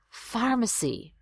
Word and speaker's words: pharmacy: Pharmacy. There's the tricky PH masquerading there. It looks like a PH, but it sounds like an F.